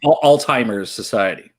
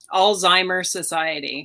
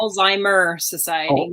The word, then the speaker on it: Alzheimer Society: And I'd say it's Alzheimer's Society.